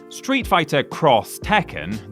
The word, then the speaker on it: Street Fighter X Tekken: Street Fighter X Tekken, that is how it's pronounced, was the first of a planned 2-game